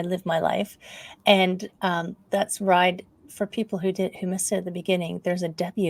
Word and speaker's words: Wride: my life, and that's Ride. For people who missed it at the beginning, there's a W at the beginning of Ride, so it does kind of rhyme with thrive, ride, but you can rearrange the letters to say weird.